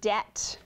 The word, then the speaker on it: debt: What letter is silent in the word debt? Ron Brent? B.